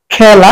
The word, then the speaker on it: খেলা: খেলা, একটু মুখটা বেশি খুলে, এই জন্য বিবৃত উচ্চারণ।